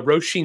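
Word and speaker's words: Róisín: it was funny is I couldn't pronounce her name so but I I had to actually look that up it's uh rosheen Murphy and she's you know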